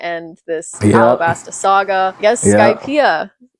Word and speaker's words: Skypia: Guess Skypia, is that how you say it? Skypia is next. Yep. Skypia.